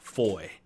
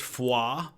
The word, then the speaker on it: Foy: on what they call Foy from the boiseac now first of all right up front gotta say it's not fully it's Foie that's how they pronounce it there in Belgium the guys called it